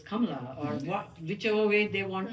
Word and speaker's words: Kamala: So we give them the confidence to stand up and tell the adult or their friends that, hey, my name is not Kamala, it is Kamala, or whichever way they